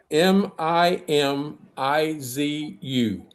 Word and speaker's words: Mimizu: It's He can't remember I have to I'll spell it cuz I can't say it. It's m i m i z u.